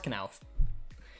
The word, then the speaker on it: Knauf: That's how you pronounce Knauf. Ansgar Knauf is the exact way you pronounce it.